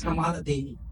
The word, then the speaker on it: Kamala: set the record straight her name is Kamala I think my Indian friend would agree with me and there's nothing's wrong with that pronunciation because that is the correct pronation for example my name